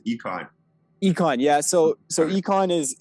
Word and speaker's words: Eikon: So econ is how it's supposed to be pronounced, but icon works as well.